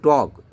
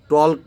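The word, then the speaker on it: talk: কাম কাম না কিন্তু কারণ কি এল টা এখানে সাইলেন্ট ওয়ার্ড এখানে উচ্চারিত হবে না সে কারণে টক টলক বললে কিন্তু এটা ইংরেজি শব্দটা ভুল হবে টক কাম তারপরে সাইলেন্ট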